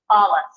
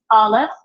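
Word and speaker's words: אלף: So there's no sound associated with it. When you see an Aleph, we pronounce it with the sound of the vowel that accompanies it.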